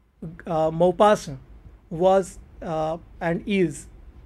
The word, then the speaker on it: Maupassant: not supposed to speak to this is how mopass was and is its utterance and pronunciation guy d maupassa was a french soft